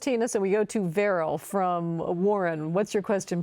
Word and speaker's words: Varrell: So we go to Veril from Warren. What's your question, please, Veril? Hope I'm pronouncing your name correctly.